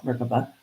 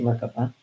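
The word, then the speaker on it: Merkaba: it's a ship but you call it merkoba or maraba. Some people use you know where you put the accent on the word. I say merkoba.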